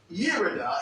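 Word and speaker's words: ירידה: But it is pronounced Yerida, and it means down, decline, descent, drop, fall, and going down.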